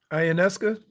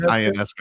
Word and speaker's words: Ionescu: Ionescu? Ionescus? I don't think it's Ionescu.